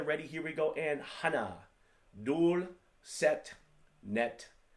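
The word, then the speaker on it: 하나: One is Hana, and it's pronounced like this, Hana.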